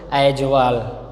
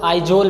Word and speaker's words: Aizawl: इसको हम लोग आइजोल भी पढ़ते हैं, मतलब लिखा तो अगर देखा जाए एजावल लिखा हुआ है, एजावल, लेकिन बच्चों इसका हम लोग आइजोल पढ़ते हैं।